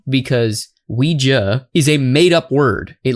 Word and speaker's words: Ouija: I don't know why the common pronunciation of this is now Ouiji because Ouija is a madeup word